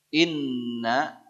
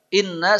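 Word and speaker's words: إِنَّ: Baik, terakhir inna syani'aka huwal abtar. Inna seperti yang pertama tadi nun tasydid tahan. Gunnah. Inna begitu caranya.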